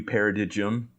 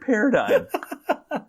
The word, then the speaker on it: paradigm: uh well that's going to be a new paradigm you really said that yeah I had no idea that was how you pronounced that word you had to be like